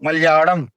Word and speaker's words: मलयालम: ठीक है, एक्चुअल में उसका उच्चारण थोड़ा ऐसा टाइप का होता है। ठीक है, जैसे मलयालम, एक्चुअल में मलयालम नहीं बोलते उसको, मलयालम। तो थोड़ा ऐसा टाइप का कुछ साउंड होता है इसका, मलयालम ऐसा करके।